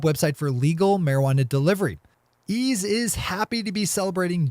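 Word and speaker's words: Eaze: Ease is happy to be celebrating June as Pride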